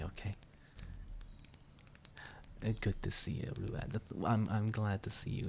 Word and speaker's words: Ruadh: Yeah, the DH is silent. Exactly, Daya. Rua. Well, I guess you could kind of go like Rua, like try and pronounce the H a little bit, but you don't have to.